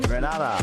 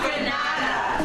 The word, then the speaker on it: Grenada: But, I heard in English it's called Grenada. Say it right. Grenada. Say it right. It's Grenada. That's right. Grenada. There we go. Say it right. It's Grenada. It's not Granada.